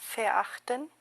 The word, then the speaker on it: verachten: verachten, Nótese que es una palabra que comienza con V, ¿vea? Pero que ya sabemos, de acuerdo a lo que hemos estudiado, que se va a pronunciar con una F, ¿vea? Porque hemos visto que la V al principio en una palabra en alemán se convierte en F.